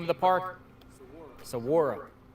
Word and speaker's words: Saguaro: Saguaro. Saguaro. Kind of like saguaro cactus.